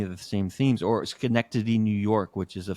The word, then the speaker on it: Schenectady: Schenectady. It's Schenectady. It's That's how you pronounce Schenectady.